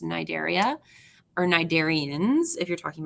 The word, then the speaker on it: Cnidaria: we have um Nigeria you don't pronounce the C it's just nidaria or cnidarians if you're